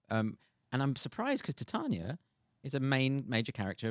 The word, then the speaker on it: Titania: for years I've been reading it as to titiana yeah me too and I've had and Tatiana I've had a lot and yeah so I